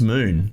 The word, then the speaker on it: Mun: I think people call it Mun. I think the developers just said it's moon, even though it's spelt Mun.